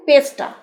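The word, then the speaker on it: pester: হতে পারে তারপরে দেখুন পেস্টা পেস্টা রটা কিন্তু উচ্চারণ করলাম না পেস্টা মানে বিরক্ত করা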